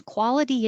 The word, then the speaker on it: quality: i have been a quality engineer for 10 years now quality that t changes to a d and engineer the stress